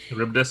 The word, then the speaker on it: Charybdis: Like a carbritus kind of thing, or carbritis. I don't know how to pronounce it, whatever. Charybdis.